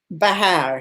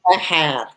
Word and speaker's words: Vejer: But Easter Sunday in my town, Bejar, spelt Vejer for anyone that wants to look it up on the map. In Spanish, V's are pronounced with B's. Okay. So Bejar, J's are Jotas.